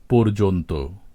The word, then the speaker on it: পর্যন্ত: মত উচ্চারিত হয়ে থাকে যেমন আমরা পর্যন্ত শব্দটি লিখি প অন্তস্থ জ রেফ ন এর সাথে ত সংযুক্ত করে কিন্তু পূর্বে এর বানানে জ ফলা যুক্ত ছিল এবং উচ্চারণ ছিল পর্যন্ত এখন জ ফলা নেই কিন্তু উচ্চারণটি অবিকৃতই রয়ে গেছে পর্যন্ত এখানে শব্দ শুরুর অটি ওকারের মত উচ্চারিত হয়েই প্রমাণ করে যে এখানে একটি জ ফলা উপস্থিত ছিল একইভাবে পর্যায় চর্যাপদ হরযক্ষ